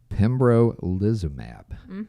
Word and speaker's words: pembrolizumab: The other, I'm going to try to pronounce this one too. Pembrolizumab.